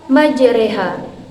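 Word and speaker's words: مجراها: ada tanda imarah maka cara membacanya dengan memiringkan bunyi harokat fathah ke bunyi harakat kasrah bunyi Gimana sama seperti kita ketika kita mengucapkan huruf e jadi dalam surah hud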